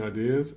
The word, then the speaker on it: ideas: Reading well or presenting ideas is not easy.